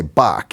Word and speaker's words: Bach: in a hurry and if you just say Bach you know it's it's one syllable one syllable surname so but then people